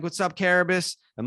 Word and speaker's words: Carrabis: like stool scenes like i say karabas at the beginning of every single episode of section 10.